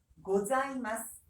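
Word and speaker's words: ございます: 고자이마스.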